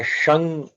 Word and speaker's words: शं: शंग जो यह तालव्य श होता है ना शंकर शिव वो शिव वाला जो श है तालव्य श है हम लोग वो यूज करते हैं शं या ओम मंत्र